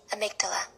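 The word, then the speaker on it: amygdala: This is how you pronounce it. Amydala.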